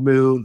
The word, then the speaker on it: MXXN: the brands that I'm working on it's called Moon pron or it's spelled mxxn in the non-alcoholic Spirit space you'll